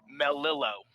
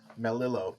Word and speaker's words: Melillo: right now um so the proper pronunciation of my last name is melillo melillo okay cool um or